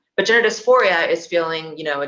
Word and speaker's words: dysphoria: My earliest memories in life were that of gender dysphoria. Like I remember being in preschool. Wait, did I even say it wrong? It's dysphoria. Did I say dysmorphia? It's dysphoria. Yeah.